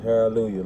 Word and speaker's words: Haroldlujah: It's Haroldlujah, like hallelujah, but my name Harold.